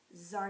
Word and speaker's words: Tsar: So he called up his buddy, Tsar Nicholas II. The T is silent. So Tsar Nicholas II was the